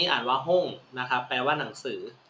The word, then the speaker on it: 本: โ นะ ครับ คันจิ ตัว นี้ อ่าน ว่า หุ้ง นะ ครับ แปล ว่า หนังสือ นะ ฮะ หง